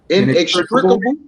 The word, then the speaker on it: inextricable: that's just an example anybody had something um pronounce this for my own right i-n-e-x-t-r-i c-a-b-l-e inextricable right inextricable intertwined i had looked it up